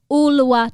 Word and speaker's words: Ulua: nice to be here you're from uluwa and i wanted to say i i hesitated them because i would got nervous about saying it correctly oola designs that's correct can you tell me